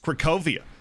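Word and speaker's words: Cracovia: one recovery is polish somebody in the chat was telling me that it's pronounced krakovia and that's why we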